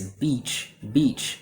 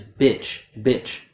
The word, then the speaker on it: beach: So the way I say it is beach. The way that I hear some students say it is bitch, which can either mean a female dog or it can be a rude word.